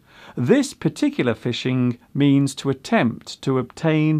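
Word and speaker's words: phishing: This word is indeed pronounced as fishing, but as you can see, it is spelled with a ph at the beginning. This particular fishing means to attempt to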